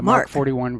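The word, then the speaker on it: Mk 41: have reserved places for MK point 41 vertical takeoff missile launchers that's pronounced mark the mark 41 vertical lines you okay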